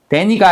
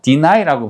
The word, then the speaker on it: deny: deny, dany가 아니에요. deny라고 발음하죠. deny, 부정하다.